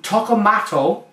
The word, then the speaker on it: Toccalmatto: She refuses to come in on this review, but she's helped me pronounce this beer today. It is Toccalmatto Birra Viva Artigianale.